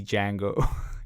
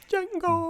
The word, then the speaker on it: Django: Dude, Like- I thought about Tarantino doing this, and I just see Django. Just, like Yeah. like when he goes into the mansion, just like Django butchers everyone. Yeah. The D is silent.